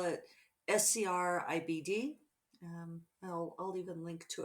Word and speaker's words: Scribd: i'm saying it right scribd sounds like ribbed but with an sc in front there we are aren't